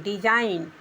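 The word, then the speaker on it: design: है डी ई एस आई जी N then डिजाइन डिजाइन means बनावट या रचना सब में डी साइलेंट है।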